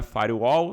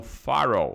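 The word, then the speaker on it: firewall: um farrow não é far All não é Farel é um farrow farrow que que é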